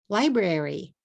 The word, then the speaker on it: library: Here's another one. Library, library, library. 3 syllables.